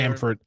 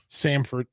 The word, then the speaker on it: Samford: of people out there Stamford I mean at least pronounce it correctly Samford I guess I jinxed